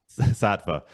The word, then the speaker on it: Saatva: Yeah, I was just looking on your site, the is it Satav or So, Satav? How do you say Saatva. Saatva latex hybrid mattress.